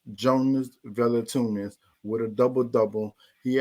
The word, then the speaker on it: Jonas: If you get what I'm saying, it's Jonas, like Jonas, but it's like the J. I'm trying to think like the J is silent, so it's Jonas because you don't really hit a J in Jonas, so it's like Jonas Velatunas.